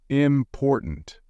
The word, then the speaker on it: important: than others for example in the word important you stress the second syllable important stressing the wrong syllable